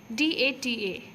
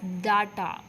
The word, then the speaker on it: data: Bowl c u p o n is co d a ta so most of us do pronounce it as data but it is data and similar are the